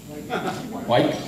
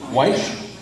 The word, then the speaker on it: Wyche: Senator Wyke Fowler. Did I pronounce that right? Wyke Fowler? Okay. Wyche? Yes. Thank you.